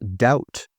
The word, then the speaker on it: doubt: And doubt. If you have a doubt about something, you're not sure about it. The B is silent.